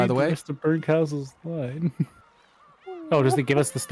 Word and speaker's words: Berncastel: Burncastle. Yeah, but that's very clearly spelled. And Beatrice's name is pronounced weird in this game too.